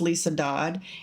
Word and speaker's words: Liese Dodd: It is pronounced Lisa Dodd.